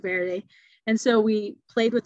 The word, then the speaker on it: verde: of Spanish words so it would be like Verdi you know instead of Verde and so we played